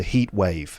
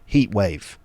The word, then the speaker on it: heatwave: We call it a heatwave. Heatwave. Not heatwave. There is a t in there, but generally that's not pronounced.